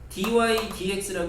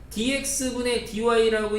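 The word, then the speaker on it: dy/dx: 그래서 얘가 읽을 때 dydx라고 읽는 거예요. 교과서에도 그렇게 읽으라고 써 있고 가끔 이제 뭐 연세 좀 많이 드신 선생님들이나 습관이 조금 뭐 이제 개인 습관이니까 어 dx분 dy라고 읽으시는 분들도 계시긴 한데 그건 이제 엄밀하게 어쨌든 잘못 읽으시는 거고요.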